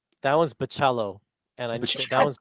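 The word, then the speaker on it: Bachalo: that one's Baccello, and I Baccello. that one's Baccello.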